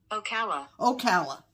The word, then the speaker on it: Ocala: We're going to get a pronunciation here. Ocala.